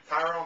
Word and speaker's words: Tyron: evening uh congratulations to Tyrone Woodley welcome Tyrone thank you thanks for having your first fight on Showtime this past Friday night Tyrone like Byron huh Tyrone what did